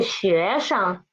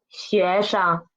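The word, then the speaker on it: 学生: Okay, pay attention to 学生，生 is the neutral tone. We should read as soft and quick.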